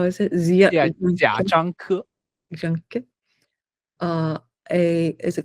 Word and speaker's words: 贾樟柯: First question, how do you pronounce his name? 贾 so 贾樟柯 Oh, okay. yeah 贾樟柯 Jia Zhangke.